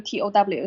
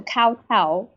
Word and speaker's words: kowtow: But then kowtow becomes the English word and it's spelled Kowtow. So a lot of foreigners, when they see this spelling, they pronounce it as kowtow, owl, like owl. Yeah. So kowtow.